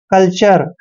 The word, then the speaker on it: कल्चर: CULTURE, दोस्तों सी के बाद जब भी यू आता है तो इसका उच्चारण हम कै करते हैं, ये ध्यान रखना है, और एल को हमने आधा ले पढ़ना है। TURE का उच्चारण चर करना है।